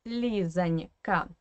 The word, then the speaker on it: Лизонька: And if you listen carefully to my explanation, you already know that this O in the middle should be pronounced as A. Because obviously, again, it is in an unstressed weak position.